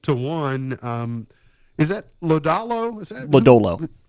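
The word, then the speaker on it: Lodolo: Um, is that Lodalo? Is that Lollo? Lollo. Okay. Wasn't sure. I hadn't heard that name pronounced.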